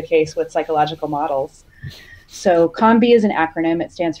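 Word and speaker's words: COM-B: Do you call it the COMB model? Is that the correct pronunciation of it? Yes.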